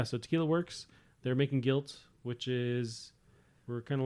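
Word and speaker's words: Gylt: So when you have to like spell it for somebody, they're like, "Oh, it's guilt, but it's spelled right. G-Y-L-T."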